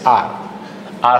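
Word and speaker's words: our: वी का अगर corresponding possessive pronoun ढूंढोगे तो वो होता है आर, अवर नहीं बोलना, प्रोनाउंसिएशन का ध्यान रखना, इट्स आर, आर होम।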